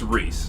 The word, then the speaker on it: Rhys: it might be of rice rice okay making a confirmation for us we'd appreciate it because we don't want to say your name wrong absolutely it's Reese it's Reese okay I was completely wrong yet it's all right